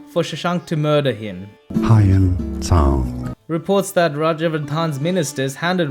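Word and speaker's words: Xuanzang: Hyun Tsang Reports that Rajavardhan's ministers handed Rajavardhan over to Shashank for Shashank to murder him.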